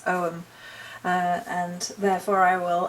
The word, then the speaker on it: Ogham: to be the shadow om so apparently I pronounced ogum wrong it's om uh and therefore I will attempt to remember